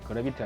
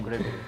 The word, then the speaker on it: 그래비트: 뭔가요 이거 이름은 레이입니다 아 우주선 빌린가 그래빌 그래비티 아니 빌립니다 그래비티 그래빌 발음에 주 주의하셔야 돼 야 이것도 여러분 제품